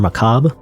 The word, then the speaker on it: macabre: in the sense like it's more Macabre is how you pronounce that by the way but